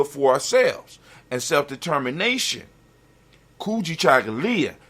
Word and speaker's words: Kujichagulia: for ourselves and self-determination kuji chagalya when you say it properly kuji chocolate and just